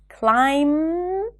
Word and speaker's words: climb: Do not pronounce the B in words ending with the spelling pattern MB, like climb, comb, lamb, bomb.